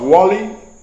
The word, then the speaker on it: Wali: I am the number one sniper in the world, because Wali rhymes with Muhammad Ali, and I can shoot the hair of an ant's backside from 1,000 yards away.